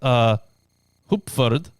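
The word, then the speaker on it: Heupferd: I think it's pronounced Hupferd, means hay horse, and in Italian, cavalletta, little horse.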